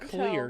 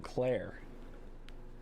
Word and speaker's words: Clear: Is her name Clear or Claire? I don't know, dude. I think it's Clear because it's spelled clear. But a couple times it sounded like somebody was saying Claire. Anyway. Maybe they were saying Claire with like an accent. Maybe, but her name is Clear.